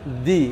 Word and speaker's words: the: কি, এমটা হচ্ছে কনসোনেন্ট, তার আগে দি বসলে উচ্চারণ হবে দা, এই জন্য দা, দি